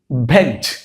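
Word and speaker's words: badge: ভেজ, ভেজ। বি এ ভ্যাঁ তার সাথে পুরোটুকুর উচ্চারণ কি? জ, তাহলে হয়ে গেল কি? ভেজ।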